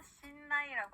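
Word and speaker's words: しんない: 자, 실내는요, 일본어로 신나이라고 합니다.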